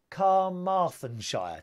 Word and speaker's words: Carmarthenshire: Carmarthenshire today, yes.